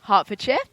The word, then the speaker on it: Hertfordshire: Parsons from Hertfordshire, England. Hertfordshire. It's my home There you go. We'll go with your home pronunciation.